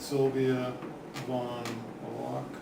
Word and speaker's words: Sylvia Von Walk: Yeah, so I had a good discussion with Sylvia Von Walk, this is how you say her name, and she was waiting